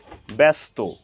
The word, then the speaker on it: ব্যস্ত: একারন্ত উচ্চারণ হয়ে থাকবে ব্যস্ত এখানে ব্যা এখানে এক কারন্ত উচ্চারণ হয়েছে ব এর সাথে জ ফলা যুক্ত হওয়ার কারণে ব্যর্থ এখানে ব্যা ব এর সাথে জ ফলা সংযুক্ত হওয়ার কারণে এখানে একারন্ত উচ্চারণ হয়েছে ব্যা ব্যস্ত এখানে ব